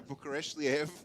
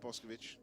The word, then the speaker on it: Bukareshvili: I guessed the name wrong. It's Joshua Bukareshvili. Yeah. It's our Not other Boscovich. finalist. No, not Boscovich.